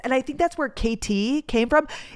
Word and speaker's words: Katy: It was the Missouri Kansas Texas and I think that's where KT came from. It's spelled K A T Y but like KT trail like Kansas Texas.